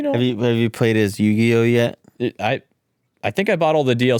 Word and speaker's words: Yugi: Yeah, His name isn't Yu-Gi-Oh, it's Yugi.